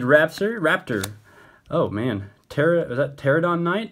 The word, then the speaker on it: Pterodon: Oh man, is that Pterodon Knight? I'm guessing the P is silent, yeah.